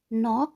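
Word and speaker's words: knock: जैसा कि है नॉक, के साइलेंट हो गया, वर्ड इधर से शुरू हो रहा है, इधर से प्रोनाउंस होना शुरू हो रहा है। लिखा इतना ही जाएगा लेकिन बोला नॉक जाएगा।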